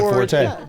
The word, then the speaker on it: forte: Sewing is my forte. The term, oh, that's my that's my forte. How that's supposed to be fort, right? That that's actually supposed to be pronounced fort and people don't know it.